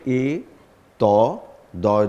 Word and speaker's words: এতদ্: দ্বারা এই বানানটা হবে এ ত দয় দয় ব আকার রয় কাররা এবং উচ্চারণটা হবে এতদ এতদ রাদ দলই ভুল উত্তর